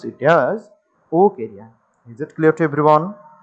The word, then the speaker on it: Wuchereria: We have to pronounce it as Wuchereria. Okay. But the spelling should be Wuchereria. But you have to pronounce it as Wuchereria.